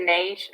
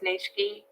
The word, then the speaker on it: niche: Like I've always just said niche. Apparently it's niche-y.